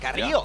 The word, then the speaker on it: Carrillo: I gotta say, I appreciate the pronunciation. Carrillo. Hey, Carrillo. They roll that R pretty well.